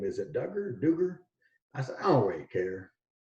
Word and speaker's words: Dugger: further east and northeast they would say my name Duker instead of Duggar and it was one